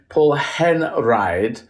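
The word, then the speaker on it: Henreid: Conrad V and then Paul Henri is how you pronounce in German but I think hen Reed is how because the everyone gets confused English speakers get confused on the E and eyes he's Victor llo yeah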